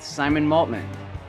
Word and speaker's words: Maltman: I'm here today with Simon Maltman. Did All I right, how's it going?